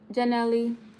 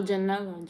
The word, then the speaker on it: Janella: Hey, Janelli. Did I say it right? Oh, Janella.